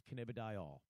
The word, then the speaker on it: cannabidiol: And for those who don't understand the phonetical or the actual pronunciation of CBD without the acronym, it is cannabidiol. Cannabidiol or cannabidiol. People forget the diol.